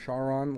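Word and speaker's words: Charon: Forerunner by Sharon is how I'm Nick gonna pronounce Sharon. it. Sharon, like the river Styx.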